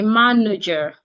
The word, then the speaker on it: manager: But when when it becomes when you add the suffix e r and it becomes a noun and it has three syllables we tend to stress the first syllable. So the second and the third syllables the vowels in there tend to be reduced. So we say manager manager manager.